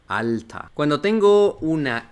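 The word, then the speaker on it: alter: esta que tenemos acá Cuando tenemos la e r una er al final de una palabra no en medio o al principio sino Al final todo esa toda la er va a pasar a sonar como una por ejemplo la palabra hombres Mena Mena o la palabra viejo alta alta cuando tengo una e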